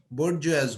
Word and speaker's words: bourgeois: বর্জিয়াস, উচ্চারণটা বর্জোয়া বলে অ্যাকচুয়ালি, যে কোন মিডল ক্লাসে থাকাদের কি বলবে?